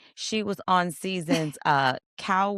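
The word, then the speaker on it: Kaoh: Um, for y'all in the in the comments, it's spelled K A O H. Cow, but it's co.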